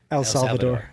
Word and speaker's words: El Salvador: El Salvador. Mhm. Am I saying that right? Yeah. Thank you. Joe can speak perfect Spanish. Yeah. so. How do you say that in Spanish? El Salvador. Perfect. So I wanted to make